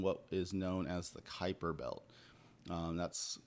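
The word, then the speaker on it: Kuiper: an object in what is known as the Kyper belt um that's spelled Ki p r and basically it's like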